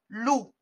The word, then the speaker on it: loup: En vert, L-O-U, et le P qu'on ne prononce pas, loup.